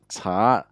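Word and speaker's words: 茶: Chá is, of course, tea. And that's how we pronounce it in Mandarin.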